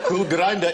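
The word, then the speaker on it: Kulgrinda: Cool Grinder is spelled K-U-L-G-R-I-N-D-A.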